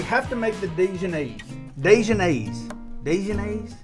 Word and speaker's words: Dijonnaise: Dijionnaise? That's how they say it. Dijonnaise.